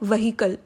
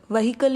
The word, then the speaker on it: vehicle: Basically हम इसे कैसे प्रोनाउंस करते हैं? व्हीकल. व्हीकल is wrong. The correct pronunciation to this word is व्हीकल.